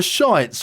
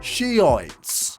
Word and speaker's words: Shiite: It was a lovely day in Azerbaijan, and the shites were taking a stroll along the river.